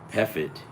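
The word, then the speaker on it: Pfaadt: Brandon Fod. FOD. This FOD. I didn't know that.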